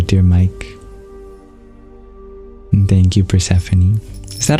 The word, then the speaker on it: Persephone: to see you dear Mike and thank you pranie is that how you pronounce your name I feel like I remember